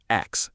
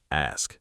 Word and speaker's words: ask: My uncle, born and raised in England, still says "ax" instead of "ask."